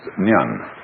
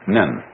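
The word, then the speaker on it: 念: It's pronounced nyan, in Japanese, nen.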